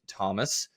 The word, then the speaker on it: Thom: dad, who is named Thomas, um that that had his name shortened to Tom, then decide to create it and make sure his name is Thom. Um, but the H is silent.